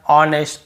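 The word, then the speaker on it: honest: यही बोल रहा है ओ के पहले यदि एच है तो हमें एच को नहीं पढ़ना ठीक है एस सेलेंट रहता है क्लियर हो गया ऑनर ऑनेस्ट आर आवर भी बोलते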